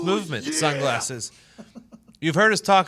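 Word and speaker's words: MVMT: wear anything other than MVM T pronounced movement sunglasses you've heard us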